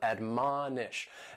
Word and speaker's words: admonish: The first word is to admonish, and admonish has three syllables and the stress is on that second syllable, admonish.